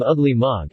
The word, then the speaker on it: Ogla-Moga: cruel and despotic government ogla Moga yes ma'am that's his name among the tribe I'm the agents deputy we called him ugly monk and that was the way the Indians pronounced it it is ugly you